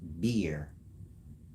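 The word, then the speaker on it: Buer: named bu b u e r bu is pronounced beer within beer you have The Agonist and the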